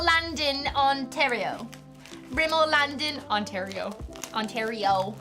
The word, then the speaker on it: Ontario: Ontario brimmel Land in Ontario Ontario you have to say it like Mario yeah it's just a